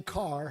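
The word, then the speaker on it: Ker: has no h and my last name Carr has no a it's k e r and pronounce car so uh at any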